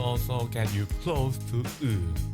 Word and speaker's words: ㅡ: That will also get you close to "ㅡ". Keep your lips flat and pull your tongue well toward the back.